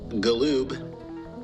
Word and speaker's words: Galoob: I am your extraterrestrial professor, Galoob, with a hard G.